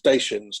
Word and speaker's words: Dacia: So definitely the car company pronounced itself Dacia, and that's from Romania.